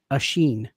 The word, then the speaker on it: Oisin: It's an Irish name pronounced Asheen.